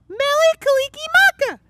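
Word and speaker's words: Mele Kalikimaka: ah man how do you say it nelly kalikimaka yeah mellie kalikimaka i love saying merry christmas in other languages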